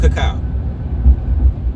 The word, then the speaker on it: cacao: eggplant and caca okay some of y'all pronounce IT Coco but it's called cacao okay but um like